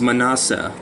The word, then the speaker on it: Manasseh: It's Manasseh.